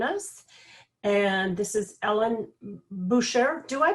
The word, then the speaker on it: Boucher: And this is Ellen Boucher. Do I pronounce that correct, Ellen? Boucher. Boucher. I never know if we want to give it that little French flair or not.